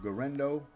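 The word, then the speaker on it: Guerendo: 64% on his completions Isaac gendo that's how you say his name gendo 10 carries for 99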